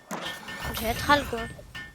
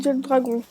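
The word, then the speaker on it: Jetragon: C'est pas d'accent anglais, je fais comme si c'est prononcé en anglais. Et oui, en français, il se prononce Jet Dragon.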